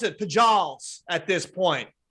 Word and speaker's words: Pujols: know Johnny what's his last name though Johnny who holds no does not feel bad John why why would you would pronounce it like that I know it's spell